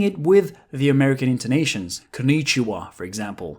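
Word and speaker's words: こんにちは: ‘Konichiwa’... for example The stress is not at the same spot. ‘Konichiwa’ and ‘kon-nichiwa’ Can you tell the difference?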